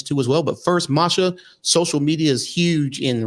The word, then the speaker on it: Masha: And of course, folks, it's spelled M-A-S-H-A, no R, M-A-S-H-A, Masha Slamovich on Facebook, IG, Twitter, and the whole 9 yards.